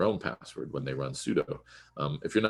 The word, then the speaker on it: sudo: just typing their own password when they run sudo if you're not familiar with sudo it's spelled s-u-d-o and it's a particular technique that's